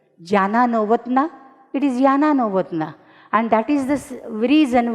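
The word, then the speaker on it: Jana Novotná: It is spelled as Z, but it is pronounced as Y. Jana Novotna, it is Yana Novotna.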